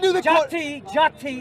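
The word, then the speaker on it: jāti: okay so from Sanskrit from Sanskrit jti is how it's pronounced by the way means group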